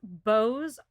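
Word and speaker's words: beaux: about bows for a really long time listeners bose is spelled b-a-u-x b-e-a-u-x c-e-a-u-x sorry i was burping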